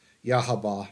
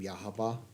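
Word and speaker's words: Yhwach: and we have um yahaba now so that'll be cool my understanding is that's how you pronounce his name yahaba um yahaba yahaba it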